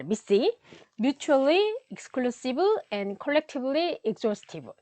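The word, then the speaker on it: MECE: 얘를 미시라고 읽는다고 하네요. 자, 미시.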